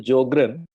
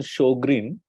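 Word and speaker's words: Sjögren: pronounce it as a geogram it is correct pronunciation show Green s j in German is pronounced as sh J J is like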